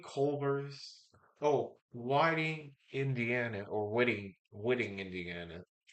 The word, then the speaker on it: Whiting: Whitting, I think, Indiana. Yeah, or Whiting. Whiting. It is Whiting. Sorry. Oh, forgive me, Steve. Forgive me. I just looked it up and it is Whiting. Sheesh. Sorry for mispronouncing it.